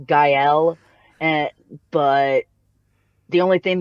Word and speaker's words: Gael: right there's there's no there's no correct way of pronouncing my name there's like even i switch it up sometimes i don't i'm trying to i'm i took french a long time ago in high school i'm pretty sure it's pronounced gael and but the only